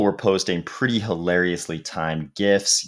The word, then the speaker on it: GIF: posting pretty hilariously timed gifts yes i did pronounce it with the g gifts of brad pitt in